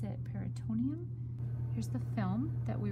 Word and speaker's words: peritoneum: So I still see a film there, and I'm trying not to cut it, so you can see the peritoneum or the peritoneum, which is a film that actually separates the skin from the abdominal cavity.